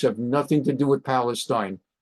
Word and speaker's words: Palestine: Palestine, they pronounce it Palestine.